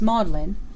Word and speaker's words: Magdalen: it Ferguson at Oxford the seat of learning Magdalene is pronounced modlin probably in subtle tribute to the condition of